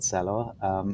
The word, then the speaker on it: Celo: here very excited as always to talk about cello and yeah you you pronounce it uh quite right it's a esperanto